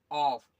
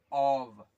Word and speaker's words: of: इसको ज्यादातर आदमी, लगभग सब कोई इसको कैसे प्रोनाउंस करते हैं? ऑफ, ऐसे। लेकिन ये गलत है। इसका साउंड होता है ऑव, वा, वी का साउंड होता है, वी का साउंड होता है वी।